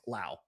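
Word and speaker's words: Lowe: It is Lao rhymes with now. So it's Brandon Laauo. My apologies Brandon if I got it wrong earlier in the show.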